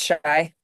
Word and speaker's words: Shy: I think it's Shay, right? It's pronounced Shay. Is it Shy? It's Shy.